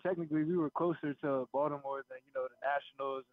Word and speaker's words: Baltimore: I know do you do you pronounce the T when you say Baltimore do you understand there's like it's really like a d how does that it's a d to me I'm there you go